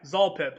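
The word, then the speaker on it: Xolpip: Yeah, Zolpip. So I put a Z on it instead of an X, so that I'll actually say it right.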